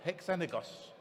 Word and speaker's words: HeXenagos: How do you pronounce it, Kristof? HeXenagos.